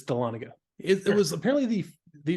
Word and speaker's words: Dahlonega: I kept saying Dahlonega, but it's Dahlonega.